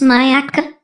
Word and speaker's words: Myakka City: and paula lives in a little town called miako city pronounced mayaka she has a pond